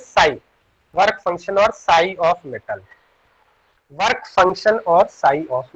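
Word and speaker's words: ψ: Now next term is work function, जिसको हम लोग इस पर्टिकुलर सिंबल से रिप्रेजेंट करते हैं, वर्क फंक्शन, और इट इज प्रोनाउंसिएटेड एज Sai, work function और sigh of metal, work function और साई ऑफ मेटल।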